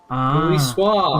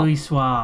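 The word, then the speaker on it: Louisoix: Luis Swah. Luis Swah. They've literally pronounced his name a hundred times in this game.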